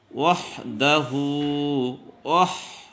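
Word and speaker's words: وحده: ইল্লাল্লাহু ওয়াহদাহু, ওয়াও যায় হাকে ধরছে, ওয়াহদাহু। এই যে হার উপরে উল্টা পেশ আছে আবার, ওয়াহদাহু। দাল কলকল হরফ, শক্ত করে বলতে হবে।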